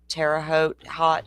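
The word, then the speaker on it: Terre Haute: officer Greg feny in terot Indiana did I pronounce that correct Joe terao hot how do you say it h rhymes with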